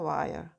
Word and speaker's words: while: 와 못모하는 동안 아 요거 잠깐 요새는 H 발음 없어지는 거 어 아시죠? 화열이 아니라 while이 아니라 what when이 아니라 when 이렇게 돼요.